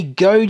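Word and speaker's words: Goede: And then up top, we do have Mewtwo, signed by the voice actor from the first movie, Jay Good. Or it may actually be pronounced Jay Goad.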